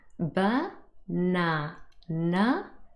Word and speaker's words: banana: of the second syllable so that means the second syllable is stressed let's hear it